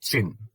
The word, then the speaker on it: Qin: and China comes from chin it is written as Qin but it is pronounced as chin it was a short